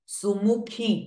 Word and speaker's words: सुमुखी: नायिका शोभनासुर नायिका सुमुखी ख इज अगेन महाप्राण साउंड सु ए एंड मु बो बोथ आर रस्व स्वराज व्हाइल खी इज दीर्घ स्वरा सुमुखी नलिनी सुभ्र शोभना